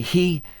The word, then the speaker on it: hi: Ni is, he, H-I, just pronounce that all the others, like rhyming with tea, cup of tea.